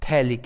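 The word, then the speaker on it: phthalic: नाम हो जाता है थैलिक एसिड। थैलिक एसिड में P और H साइलेंट होता है, तो इसका नाम हो जाएगा थैलिक एसिड।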